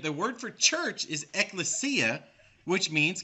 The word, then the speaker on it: ecclesia: okay so let's look at strong's concordance g1577 pronounced ecclesia the definition as follows a calling out that